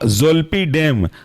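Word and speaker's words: Zolpidem: ई एस जोपी clone अगला example है आपका जल्प डेम जल्प जड ओ एल पी आई और डेम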